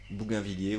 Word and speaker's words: Bougainvillier: Bougainvillier, ville, Bougainvillier ou Bougainville. Non, ça se prononce ville.